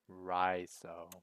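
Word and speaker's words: Raiso: My name is spelled R-A-I-S-O. Raizo.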